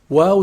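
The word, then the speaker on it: و: Wow is pronounced when you put both lips together and you stick them outside.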